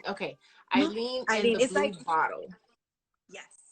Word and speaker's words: Aline: Is that how you pronounce Eileen? Okay. Eileen and the Blue Bottle.